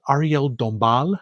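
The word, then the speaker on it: Arielle Dombasle: I believe it's pronounced Ariel Dombal. I think the S is silent.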